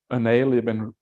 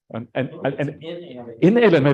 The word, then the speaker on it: inalienable: But it's something about the unalienable, no, how do you say that word? Inalienable, that's what it is.